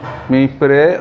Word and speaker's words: পিঁপড়ে: তোমরা উচ্চারণ শুনে থাকবে আমি কি বলছি, পিঁপড়ে ও ঘুঘু, তার মানে হচ্ছে পয়ের উপরে চন্দ্রবিন্দু আছে।